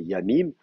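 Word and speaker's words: ימים: sur le fait que le pluriel de yom c'est yamim. Enfin, je veux dire, c'est pas moi qui ai décidé, je signale juste, c'est comme ça que les massorètes le prononcent. Voilà, mais c'est de rester du coup la prononciation classique. Même en hébreu moderne, on dit yamim au pluriel. Alors si vous dites yomim au pluriel en hébreu moderne, je sais pas si on sera peut-être pas très content.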